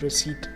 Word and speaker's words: receipt: wrong of the word receipt this word was a flatter dodging and the P remains silent all through the wood